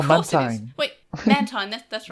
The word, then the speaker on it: Mantine: Wait, Mantine. That's right. That's how it's pronounced.